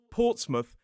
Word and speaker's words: Portsmouth: We can see it in places like Plymouth, Portsmouth, and Bournemouth.